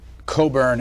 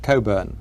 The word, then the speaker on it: Cockburn: Mission through life as your name is spelled cockburn but you pronounce it Coburn um and there are